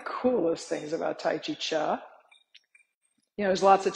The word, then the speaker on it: Chih: is spelled c-h-i-h and it's pronounced cha like Chuck Wagon right one of the